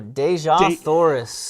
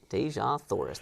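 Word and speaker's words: Dejah Thoris: But okay, you're gonna have to pronounce this for me because I'm half. Oh, Deja Thoris.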